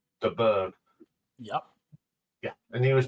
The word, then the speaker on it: de Burgh: We're going to look at Chris de Burgh, and you do pronounce it de Burgh.